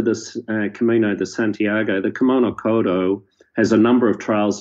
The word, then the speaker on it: Kumano Kodo: Is that the right way to pronounce it? Kumano Kodo.